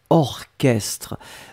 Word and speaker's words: orchestre: bizarre mais il existe il existe certes un mot qu'on écrit chat mais qu'on prononce que y'a pas beaucoup c'est vraiment une minorité mais ici c'est un exemple orchestre on l'écrit or chestres